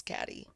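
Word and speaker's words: Caty: Her name's Katie, but it's really Catty. Because it's spelled C-A-T-Y, so it's Catty.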